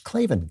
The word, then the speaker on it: Klavan: I know you're thinking that's it's claven claven how do you how do you spell that it's k a v a an no ease in claven I just make it